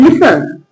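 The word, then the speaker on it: listen: लिसन।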